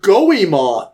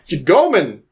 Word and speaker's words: Goemon: But I'm like, how do you mess up Goemon? Like, it doesn't seem like... Gomen.